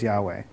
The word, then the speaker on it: YHWH: think it's the tetragrammaton the yhwh what we commonly say is yahweh but it's yhwh all consonants no vowels and there was an idea that um you know when you pronounce that it just sounds like like a breath so in every single